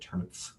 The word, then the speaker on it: Turnepf: I like to pronounce it Turnipf.